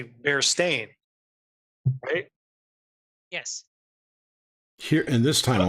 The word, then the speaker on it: Berenstain: oh let's pronounce it it was it was Berenstein bears yeah Barristan that's what I remember but the book is actually bear stained yes here in this